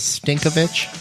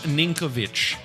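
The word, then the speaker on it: Ninković: player of the year so his name is sinkovich Milos ninkovic but yeah let's go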